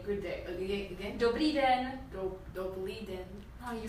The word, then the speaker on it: dobrý den: We say dobrý den. Good morning or good day? It's good day. Good day. Again? Dobrý den. Dobrý den.